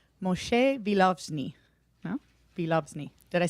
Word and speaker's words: Vilozny: I'm going to try to pronounce this name correctly. Moshe Vilozny.